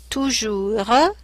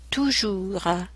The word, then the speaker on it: toujours: Toujours, the S at the end is mute. Toujours.